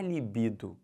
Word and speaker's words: libido: gênero do substantivo mas o certo é a libido e não o libido então aí isso aí mexe com a minha libido com o meu desejo entendeu isso beleza aqui